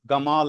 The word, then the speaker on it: Gamal: they say gdan uh gamal abdas gamal egyptian egyptian gamal his name is Jamal Abdas but he is pronounced as gamal of the lass So